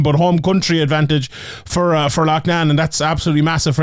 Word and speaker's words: Loughnane: massive fight for Loughnane, and sorry if I pronounce it differently. Loughnane is from like my part of the world here, and they call it Loughnane in England, but I'm going to continue to call it Loughnane because that's how you pronounce it.